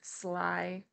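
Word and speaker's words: slithy: point also pronounce slyy as if it were two words slythe okay Sly the there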